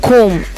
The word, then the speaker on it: comb: And comb, comb, comb, D. B is silent letter.